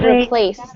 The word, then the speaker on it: replaced: could you repeat that replaced replaced good excellent remember that e we don't want to add an extra syllable keep it all one syllable okay excellent all right